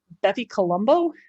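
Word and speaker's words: BepiColombo: But coming up, it was launched in 2018, Bepi Colombo, I think is how it's pronounced.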